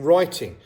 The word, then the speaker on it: writing: The letter W is silent if it comes before R, as in writing.